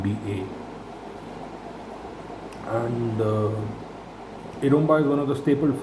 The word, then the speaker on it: eromba: had asked me uh what iroma is and they had misspelled it in most of the manipuri food forums romai is spelled e r o m MBA and uh eroma is one of the